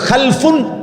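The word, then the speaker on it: خَلْفٌ: খালফুন আরেকটা হল খালাফুন একই শব্দ শুধু উচ্চারণের মধ্যে একটু ভিন্নতা মাঝখানে একটা লাম আছে এ লামটার মধ্যে যদি সাকিন হয় তাইলে হল খালফুন আর যদি লামের মধ্যে জবর হয় তাহলে হল খালাফুন আরবি শব্দ এ খালফুন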